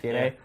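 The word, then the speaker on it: DeNA: How do you pronounce that name? DNA? Is it DNA? DNA.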